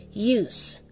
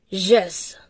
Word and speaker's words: jus: Since ito nga po ay Latin, ito raw ay pronounced as use.